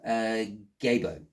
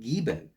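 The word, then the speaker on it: Gebo: Okay, so we are dealing with Gabo, or perhaps if you want, you can pronounce it Gibo.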